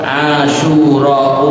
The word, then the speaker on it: Asyura: Ya, bacanya harus cepat, Asyura, jangan berhenti di tempat.